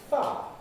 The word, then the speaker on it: fire: We start off with fire. That's not compressed and not smooth. 2 syllables with the I present. Non-syllabic I. Fire, fire, fire, fire. Now, as we see, we can smooth it, losing the I element. Fire, fire, fire. And from that, we can compress it, losing 1 syllable, ending up with a single syllable, fa, with a new kind